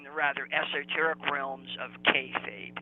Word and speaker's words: kayfabe: So, for example, when we talked about cutting, that would be in the rather esoteric realms of kayfabe. Kayfabe. I think it's pronounced kayfabe.